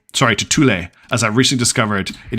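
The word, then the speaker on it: Thule: didn't all right from here let's head to THU sorry to tulle as I recently discovered it is pronounced if it's named after the play It's pronounced tulle not th um just because I know it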